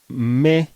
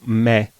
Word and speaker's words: me: If we wanted to speak perfect Italian, we should say "mé" and "té." I hope I pronounced it correctly, but since I grew up in Milan, I pronounce "mè" and "tè."